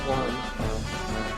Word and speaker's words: Wyrm: Yeah, it is pronounced worm. Huh, okay. That's what I thought. Yeah, it'd be pretty weird if it was Wyrm.